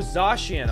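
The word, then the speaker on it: Zacian: am zach zack ayanne zatian okay oh zashian okay it's like sashi and orzay i'll go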